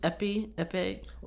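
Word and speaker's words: épée: Somebody said, well, I know like they'll use epi, yes, like the how do you pronounce it? Epi? The fencing sword. Yeah. Epi, like E-P-E-E, because it's just like you just need that's a lot of E's.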